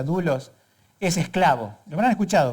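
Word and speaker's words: δοῦλος: que esa palabra siervo en original griego que se pronuncia dulos ese esclavo lo habrán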